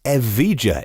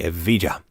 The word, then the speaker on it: Evija: The Lotus Evija, E-V-I-G-A, maybe Evija, if you were Spanish and pronounced the J that way.